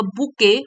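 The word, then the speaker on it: bouquet: spelling बहुत tricky है बी ओ यू क्यू यू ई टी और इसको बोलते हैं प्रोनाउंस करते हैं बुके मतलब गुलदस्ता फूलों का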